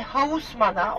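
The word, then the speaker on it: Haussmann: Londra'ya gidiyor çok beğeniyor ve hausman Osman okunuyor Eee Osman Türk ismi olduğu için aklınızda kalabilir diyor ki Paris'i tarihine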